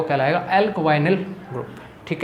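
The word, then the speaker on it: alkynyl: उसका नाम क्या होगा, एल्कवाइनिल। इस ग्रुप को मैं क्या बोलूँगा, इस रेडिकल का जो प्रोनाउंस होगा वो क्या होगा, एल्क, फिर आप बोलोगे वाई और फिर बोलोगे निल, एल्कवाइनिल।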